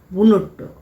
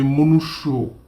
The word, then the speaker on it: মনুষ্য: আর এখানকার প্রাণীদের বলা হয় বুনট্য। কয়েক মুহূর্ত থমকে তারপর হো হো করে হেসে উঠলেন হোমরা চোমড়া। আর এ মশায় ভজুমঢোরা নয় ওটা বসুন্ধরা। আর বনুট্য নয় ওটা হবে মনুষ্য।